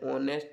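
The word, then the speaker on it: honest: तो mister Sharma is एन ऑनेस्ट मैन, यहाँ पे एन आएगा क्योंकि एच जो होता है ऑनेस्ट में साइलेंट होता है।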